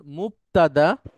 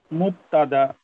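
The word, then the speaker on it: مبتدأ: আমার সাথে বলেন, মুবতাদা। মুবতাদা। হ্যাঁ, এখানে মাঝখানে কিন্তু বা, ক না, মুক না, হ্যাঁ, মুবতাদা।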